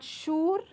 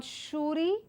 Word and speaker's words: sure: So moving on to understand the pronunciation of this word, S-U-R-E is not sure, it's not shuri, but it is sure, the oo sound, the oo sound. So there's a short oo sound with a schwa in it.